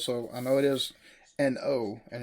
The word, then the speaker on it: An Oa: And I did take a look to see what the pronunciation was. So I know it is An Oa, and it's at the local body of water